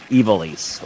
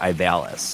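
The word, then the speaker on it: Ivalice: isn't in ivelisse or as I always said until I heard him pronounce it I always said ivalis and I think ivalis sounds better really I I don't like that about I've always said iballist until I heard like the actual pronunciation yeah beer were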